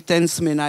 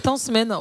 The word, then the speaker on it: Tence Mena: Mais comme au Madagascar, on ne prononce pas le A, c'est Tansmen. Non, c'est pas ça? Non, c'est Tansmena. On m'appelle toujours Tansmena. Non, c'est bien. Mais Richard, il est un malgache, il me dit non, il ne faut pas prononcer le A à la fin.